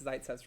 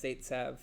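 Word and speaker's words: Zaitsev: So we favor the internal and that's Zitzv's rule. I say Zitzv, Logan says Zaitv. I don't think either of us are going to change how we pronounce it.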